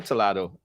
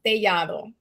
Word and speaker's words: Tellado: Is it Toledo or Toledo? It's Tellado, but in Helado? Is it Toledo? Helado, you said? Telado. Okay. It's a Spanish last name, so it's pronounced Tellado.